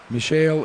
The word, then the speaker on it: Michel: Michel Isidore. And I want to thank his mom for coming over and straightening me out on the pronunciation of his first name.